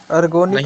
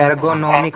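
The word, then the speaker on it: ergonomic: Safety hazard, अर्गोनिक नहीं। Hazard, एर्गोनॉमिक hazard.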